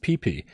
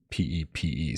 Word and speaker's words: Pepe: I mean, his comment when he put hashtag Gamecat was it's pronounced Pee-Pee, but I could have sworn it was P-E-P-E.